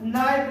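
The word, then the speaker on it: knife: तो बेटा यहाँ पर के साइलेंट होते हैं नाइफ में, है ना। के क्या होती है? साइलेंट। हाँ, तो नाइफ नहीं पढ़ते हैं, कनाइफ नहीं करते हैं।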